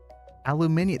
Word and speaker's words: aluminium: Alumini. That's how it's pronounced. It's got the extra eye.